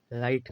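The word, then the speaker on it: write: तो डब्ल्यू यहां साइलेंट है। यहां पड़ेगा डब्ल्यू आर आई टी। राइट खाली आर से इसकी उच्चारण निकल रहा है।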